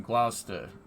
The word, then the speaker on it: Gloucester: what's going on there you don't pronounce the U in Gloucester yeah I know stoves